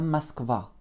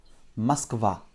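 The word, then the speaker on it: Москва: qui est donc là la façon de dire moscou en russe nous écrivons m o s k vais à avec un accent tonique sur le à ce qui va réduire notre eau en petit à masquer vas y je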